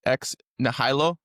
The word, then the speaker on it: ex nihilo: So Latin, pronounce it for me. Ex nihilo.